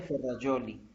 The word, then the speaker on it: Ferrajoli: Ah, se escribe Ferrajoli con J, se pronuncia Ferrajoli. Y es Luigi, Terrajoli. Luigi, ajá, Ok, perfecto. Luigi Ferrajoli.